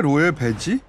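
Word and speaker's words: Loewe: 두 가지 인상이 있는데 하나는 왜 로에베지? 이거는 독일식 발음인데.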